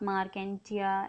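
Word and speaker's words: Marchantia: ठीक है, लिवरवर्ट्स में आता है आपका रिक्सिया एंड मार्केंसिया। ठीक है, आप मार्केंटिया इस तरीके से प्रोनाउंस कर सकते हैं।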